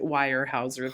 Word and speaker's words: Weyerhaeuser: did work for warehouser they pronounced it Weyerhaeuser's and that old german name but when I jumped